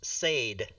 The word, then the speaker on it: Sade: I pronounce the musicians Sade. Sade? Whereas it should Oh, be Sadie?